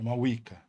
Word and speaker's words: Mavuika: É quase como se fosse em dois U's. Quase um W, né?